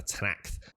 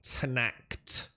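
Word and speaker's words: Tenakth: literally just that tanak i've heard them say tanact like that and i've also heard others say tanakh with a very th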